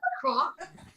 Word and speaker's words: La Croix: there you go, LaCroix people say, but if Is it La Croix? La Croix, yeah, that's how you actually pronounce it. It's French for the cross.